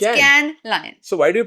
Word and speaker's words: Cannes: It's like a Pepsi can. Can. It's Cannes Lion.